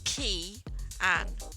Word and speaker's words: Kianne: But it's not pronounced Kianne, even though it looks like it's spelt Kianne. It's key. K and I in it. The K and the I is a K and an I. Yeah, but you put them together and that pronounces an E. So it's Kianne.